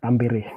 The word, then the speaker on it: Tampere: Sini kita Finland itu bacanya seperti Indonesia Pak, apa adanya, Tampere.